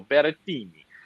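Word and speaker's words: Berrettini: surprised by this but it's the italian mateo beretini um gotta say his name like that he's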